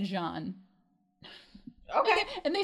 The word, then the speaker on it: Jean: the kakana no this his name is supposed to be said Jean okay and they say